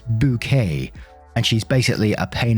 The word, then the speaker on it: Bucket: up appearances and the main character's name is called hyacinth bucket but she insists is pronounced bouquet and she's basically a